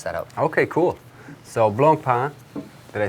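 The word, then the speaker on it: Blancpain: you cannot mess that out okay cool so Blanc pan did I say correctly yeah the intonation is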